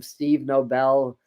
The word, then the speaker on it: Nobel: I actually learned from Steve Nobel who's one of the best meditation facilitators and starseed facilitators on YouTube if you don't know who is he may pronounce his name Noble but it's spelled Nobel n-o-b-e-l Steve Nobel and